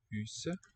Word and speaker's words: Huset: Huset. So it sounds like that, and there's a silent T. You gotta really listen for that silent letter.